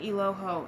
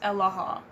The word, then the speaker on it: Aloha: like hey guys uh my name actually isn't iloho it's aloha so then they'll be